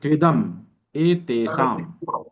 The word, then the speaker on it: त्विदमेतेषाम्: तो इसको हम अच्छे से उच्चारण कर सकें, इसको आप इस तरह से पढ़ें ताकि उच्चारण अच्छे से हो जाए। त्विद मेतेषाम त्रिवेद या फिर त्विदम एतेषाम, है ना?